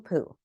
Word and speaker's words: Pu: Meet Geraldine Pu. Her last name rhymes with glue and Drew.